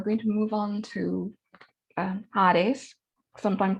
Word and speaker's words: Hades: So now we're going to move on to Hades, sometimes pronounced Hades.